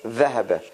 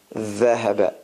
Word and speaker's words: ذهب: So if we want to distinguish between dhahaba, dhuhr is the tongue is much further out than ذهب.